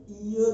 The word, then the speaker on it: heir: अब इसमें H क्या है, साइलेंट है, इसका फर्स्ट अल्फाबेट क्या है, वोवल है, वोवल साउंड है, नॉट वोवल है, वोवल साउंड है, क्योंकि इसकी प्रोनाउंसिएशन ईयर होती है, इसलिए इसके साथ क्या